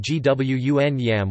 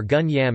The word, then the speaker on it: Kwun Yam: The name is pronounced Gwun Yam or Gun Yam in Cantonese Chinese, also written as Kun Yam in Hong Kong or Kun Iam in Macau.